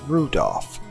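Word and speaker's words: Rudolf: It's just Anyway, this guy, his name is pronounced Rudolph.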